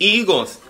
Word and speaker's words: higo: se dice uvas y higos. Yo soy maestra. Y el término correcto es uva e higos. Porque aunque la palabra higo empieza con H, se pronuncia con I.